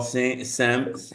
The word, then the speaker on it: Siemms: Um, I'm here with Paul Sims. How do you say your last name? I should know that. It's actually just pronounced Sims.